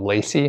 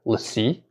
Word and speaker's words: LaCie: drive it's it's just I thought it was called Lacy but it's uh apparently let's see and I think it's spelled l-a-c-i-e so it's a pretty